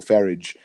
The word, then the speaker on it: Farage: be happening now is Farraj is pushing for or Farage sorry I always get the pronunciation incorrect is pushing for a